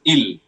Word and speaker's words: il: So the ill form that is e l or i l as we say in English. This is pronounced as ill.